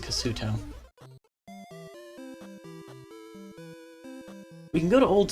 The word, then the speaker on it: Kasuto: I think it actually is properly pronounced Kasuto.